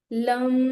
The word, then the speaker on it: लं: चक्राचा बीज मंत्र आहे लम तर उच्चारण कस करायच दीर्घ उच्चारण करायचे त्याच ओके तो व्यब्रेशन क्रिएट